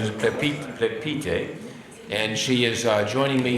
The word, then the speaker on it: Plepyte: correct pronunciation is Plepyte, and she is joining me here as we